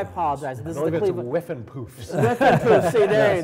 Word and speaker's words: Whiffenpoofs: And then you have Blondie and Cyndi Lauper played with the Woofenpoofers. Did I say that name? The Woofenpuffs. Woofenpuffs. I apologize. This is the Cleveland. Whiffenpoofs.